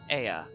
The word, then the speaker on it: Ea: When the vibration of vocal folds was still required to convey our thoughts and intention, Ea, I believe, was the pronunciation we used when referring to our people.